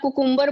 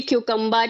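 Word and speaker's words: cucumber: की डेट में तो अगर आप कुकुम्बर बोलोगे फिर भी लोग देखेंगे it should be क्यूकम्बर it should be onion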